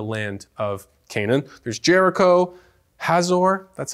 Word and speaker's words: Hazor: There's Jericho, Hazor, that's how you say it.